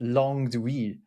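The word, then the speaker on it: langue d'oïl: Because even now we're only talking about a certain type of French language, langue d'oui, which means the languages of yes, but like we.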